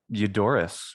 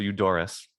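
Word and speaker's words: Eudoros: i'm saying that right yodoris would be english um you you like euphony um or euphemism and so forth you is just how we say it in english and that's that's always in english uh so you doris and you or maybe you dora ass because the spelling here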